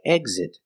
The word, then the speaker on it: exit: When the X is between vowels, most of the time it's pronounced gz gz, like exit. You make a voice, gz gz, eggs, exit.